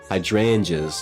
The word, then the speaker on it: hydrangea: Hydrangeas. That's That's how you say it.